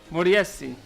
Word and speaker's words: Moriyasu: Is that right pronunciation? No. How do you say it? You have to remember, there is a village called in Sulaimania called Moriyasi. Moriyasu.